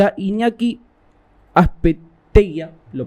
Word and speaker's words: Azpeitia: Y a Iñaki Azpeitia, ¿lo pronunciamos bien? Azpeitia.